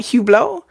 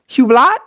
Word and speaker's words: Hublot: I think that's how it's pronounced. It's French, right? Hublot? Hublot? Hublot.